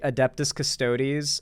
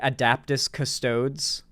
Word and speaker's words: Adeptus Custodes: woke Warhammer fans tourist while pronouncing the um the adeptus custodes as uh the adaptus custodes and then like he he went he he would just continuously say adaptis custodes while calling woke Warhammer